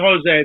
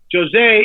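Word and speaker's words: José: the film so enter jose not jose they don't pronounce it that way they pronounce it jose in portugal in portuguese jose machado who has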